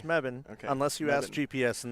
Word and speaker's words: Mebane: that's how you say it right apparently it's meban unless you ask GPS and then it's Mebane so it's spelled this way and you pronounce it meban